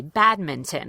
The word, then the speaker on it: badminton: So anyone who's learned a general American accent or American pronunciation is taught to pronounce that T, badminton, and that's the first example that we see.